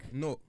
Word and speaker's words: Newark: Wait, Newark? How you say it? Newark. Newark. Newark. Yeah. Newark. Newark. Newark. Like pork. Newark. Oh, like pork.